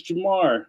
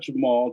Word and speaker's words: Jamar: If you spell my name wrong, it's Jamar, not Jamal.